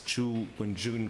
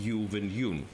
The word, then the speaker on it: Zhu Wenjun: Well, I've always had difficulties pronouncing it correctly, but I think it's Zhu Wenjun rather than Yu Wenyun, but might be wrong.